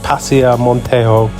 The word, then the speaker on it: Paseo Montejo: So the place we're heading to is on that road right at the top there, and I think it's pronounced Paseo Montejo.